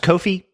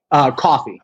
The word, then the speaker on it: Coffee: with another character, and is his name pronounced Kofi? Coffee. Oh, Coffee. Okay, I didn't know if it was Coffee or Kofi.